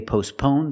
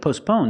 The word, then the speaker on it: postpone: We see with postpone, the T is silent. You don't hear it because it's between consonants. It's not postpone, it's postpone. Your tongue goes up a little bit and makes a stop T, but you don't really hear it.